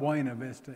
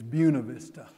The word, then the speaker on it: Buena Vista: word in any lexicon so in Texas it's not Wayne Avista it's Buena Vista Buena Vista Ragsdale and